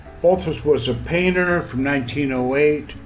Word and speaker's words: Balthus: belus that's how he pronounced it balazar Kowski de Ral also known as balus balus was a painter from